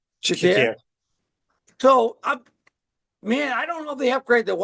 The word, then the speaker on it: Shakir: Shakur. Shakir.